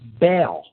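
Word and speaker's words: Baal: Taurus the Bull again we have similar phonetic pronunciations bull Bell bill another name for this God was Bale b a a l now not to diverge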